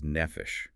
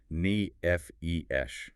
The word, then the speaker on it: nephesh: The Hebrew term for a living being is nephesh. It's pronounced n e f e sh.